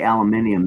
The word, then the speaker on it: aluminium: See, that's why they say aluminium. They put that extra I in there. If they start the way we do, which is they would pronounce it the way we do.